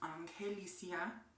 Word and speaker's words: Angelicia: My full name is supposed to be pronounced in Spanish. It's Angelicia, and then my last name is. Usually I just tell people to call me, or if you can't pronounce it in Spanish, then you can say it in English. It's literally Angelica with the extra I.